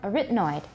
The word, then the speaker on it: arytenoid: noise you're doing fine arithmetic stress is on the second syllable origin noise there you go everyone uh everyone arytenoid arytenoid arytenoid cartilages cartilage